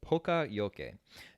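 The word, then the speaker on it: poka-yoke: on screen now so you can see how it's spelled but it's poca it's p o k a space y o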